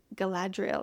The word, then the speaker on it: Galadriel: there's this one elf that they meet named Galadriel.